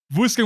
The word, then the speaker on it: Worcester: By the way, Worcester is not said how you spell it. So I had to look it up. Pro tip. Worcester, Massachusetts.